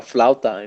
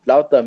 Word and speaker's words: flauta: It's actually a rolled corn, I guess like a flauta, if you could say.